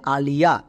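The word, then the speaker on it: Aliya: তাহলে নাম লিখতে গিয়ে আমি যদি আয়ের পাশে ওয়াই দেখতে পাই শুধুমাত্র হস্তিকার সাউন্ড করব। যেমন এ, এর জন্য আ, এল, এল এর জন্য লো। তাহলে এ এল কি হলো? আল, নট অল। অল কিন্তু বলা চলবে না। নেক্সট আই ওয়াই এর জন্য হস্তিকার, তাহলে আল প্লাস হস্তিকার কি হয়ে গেল? আলি। নেক্সট শব্দের শেষে এ আছে, শব্দের শেষে এ থাকলে আকার সাউন্ড করতে হয়, তাহলে আলিয়া। সো এটা কিন্তু নাম, এটা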